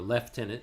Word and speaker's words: lieutenant: 1915 he became a lieutenant or leftenant if you're going to speak it in British as best I understand the pronunciation of that word if I were were